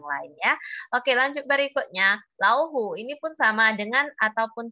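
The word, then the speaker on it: 老虎: orang yang agak berumur, dia suka bilangnya laufu. Dia bukan bilang lauhu ya, dia membacanya menjadi laufu. Itu pengucapan yang tidak begitu tepat ya, tepatnya adalah lauhu ya.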